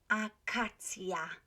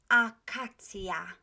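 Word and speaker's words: akacja: Acacia. Can you hear that I'm pronouncing all of those A's, Polish A's, right? The same. Acacia.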